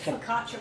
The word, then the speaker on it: Focaccia: Focaccia bread.